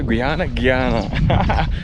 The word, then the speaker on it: Guyana: Yeah, Guyana. That's how we pronounce it.